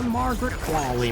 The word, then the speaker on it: Margaret Qualley: Yeah, Margaret Qualley, man.